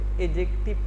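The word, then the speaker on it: adjective: एडजेक्टिव एडजेक्टिव नहीं पढ़ेंगे एडजेक्टिव पढ़ेंगे डी साइलेंट है एडजेक्टिव के अंदर डी साइलेंट है क्लियर है चौथा वर्ड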